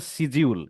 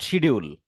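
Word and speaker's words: schedule: এটার নাম কি বলছিল সিজিউল নট শিডিউল সিজিউল বা স্ক্যাজুয়াল এটা হলো সঠিক উচ্চারণ বাট আমরা কি বলি তাহলে দাদা শিডিউল বলি আমরা শিডিউল বলি হ্যাঁ ওই যে ব্রিটিশ ইংলিশ আর আমেরিকান ইংলিশ আছে না জি আচ্ছা যাই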